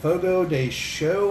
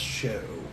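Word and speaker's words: Fogo de Chão: steakhouse known as uh fogo day show i believe is how you're supposed to pronounce it but it looks like it's ciao but i believe it's pronounced show or something to that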